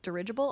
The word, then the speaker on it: dirigible: Ridge, like in ridge. Oh, dirigible? Is that how you say it? Yup, dirigible.